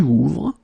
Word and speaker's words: ouvre: And that's the reason why you will get tu ouvres. For il, elle, you will add e, ouvre. Okay, so basically you get the same phonetical form here. Okay, it's the same pronunciation, but you should write it ouvre, es, ouvre, e.